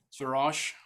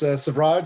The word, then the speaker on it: Savraj: Suraj, please correct me with pronouncing your name. Yeah, thank you. It's Savraj, so you're very close.